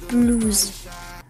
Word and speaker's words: Bluis: En fait ça s'écrit Bluis mais ça se dit Blues.